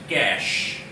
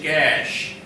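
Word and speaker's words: cache: is cash, not C-A-S-H, cash. That is all about money. But here the spelling is C-A-C-H-E. Let me write this word here so that it becomes easier for you. C-A-C-H-E. The pronunciation is cash.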